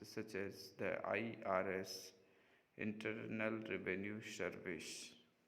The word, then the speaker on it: IRS: letters such as the irs internal revenue service which is pronounced as three syllables if it were a